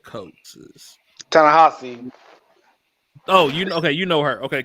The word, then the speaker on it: Ta-Nehisi: That was Tanisha Coates. Ta-Nehisi.